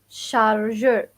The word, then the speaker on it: chargeur: Okay, so to start with, the charger is in Darija, chargeur, chargeur. Okay, so same thing. I'm just like pronouncing it different. So I will write it, chargeur. It's most have like a French pronunciation.